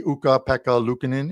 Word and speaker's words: Ukko-Pekka Luukkonen: And for TJ Salvador, who's going to probably pop into our live chat, it should be Ukko-Pekka Luukkonen in goal tonight. There, I pronounced it once again for you, but it